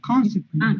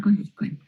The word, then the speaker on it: consequently: No, consequently. Consequently. No, aquí le van a poner el acento aquí.